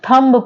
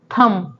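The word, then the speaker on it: thumb: देखते हैं for example अब यहां पे वर्ड है थम अब इसको बहुत सारे स्टूडेंट्स है वो क्या पढ़ते हैं थंब पढ़ते हैं जबकि ये थंब नहीं होता होता है वर्ड थम केवल यहीं पर रुक जाओ थम थंब नहीं पढ़ा जाता ओके नेक्स्ट वर्ड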